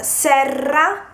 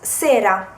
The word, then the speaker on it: serra: If you say Serra, Serra, it means greenhouse. If you do not pronounce the double R, it becomes sera, which is evening.